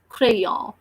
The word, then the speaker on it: crayon: is called crayon so the sound of C is curved and the pollinator is r so c and r are becoming true so the word we are reading like crayon and the sound of